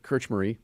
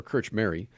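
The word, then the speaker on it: Krčméry: kirch murray kirch marie i looked this up so i could pronounce kirch marie and yukil he was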